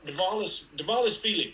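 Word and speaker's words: Dvalishvili: Devilashvili? It's like Milli Vanilli, right?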